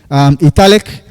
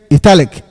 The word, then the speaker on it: italic: Now, this word italic can be pronounced in two ways. When I pronounce it italic is the British pronunciation. And when I pronounce it italic is the American pronunciation. So, in any way you pronounce it, it is accepted. So we have italic British pronunciation and then italic American pronunciation.